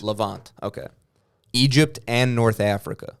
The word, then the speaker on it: Levant: the L how do you say Levant or lant Levant okay Egypt and North Africa which I thought